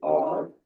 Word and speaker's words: are: Are. Everybody say are. Sound. Samira, look. The word are has one sound. Are. Everybody say are. Letters A and R make the R sound. The letter E is silent.